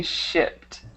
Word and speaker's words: shipped: And then this one should be shipped. Shipped. Okay, Right. shipped. Perfect. So sometimes it's hard to pronounce that without adding an extra syllable, but just remember to not add that extra one.